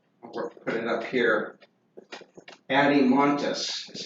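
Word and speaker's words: Adeimantus: Adimontus is how you pronounce that.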